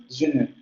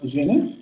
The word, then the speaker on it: je ne: En frases en donde tengamos la frase nominal, o bueno, más bien la secuencia, je ne. Siempre que tengamos je ne, se va a pronunciar la vocal media central labializada.